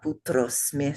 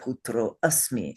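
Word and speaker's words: पुत्रोऽस्मि: half of this line, you would say, Buddha putrosme sam pratam. You would not say, Buddha putro asmi sam pratam, even though that's what it means. Okay, so don't pronounce it at all.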